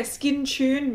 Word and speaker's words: Skintune: But this is the Skintune Blur. So it's a hybrid serum and primer. Rhymes with moon. Yeah, Skintune, moon.